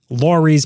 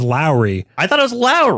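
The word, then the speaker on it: Lawry's: after Lawrence's nickname, which I guess I've been pronouncing it wrong all the time. Lorie's Prime Rib. What? He's Lawrence. Lori? I thought it was Lowry.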